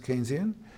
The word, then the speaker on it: Keynesian: theory as it's called it's not pronounced Kenny is pronounced Keynesian became part of mainstream